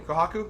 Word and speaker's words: Kohaku: I always forget how to pronounce her name. Kohaku, yes.